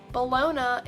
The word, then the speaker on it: Bologna: that's spelt like this Bologna is like lasagna it's not loose on me or whatever I don't know but it's based off a town called the Luna so actually you've been saying it wrong like I get that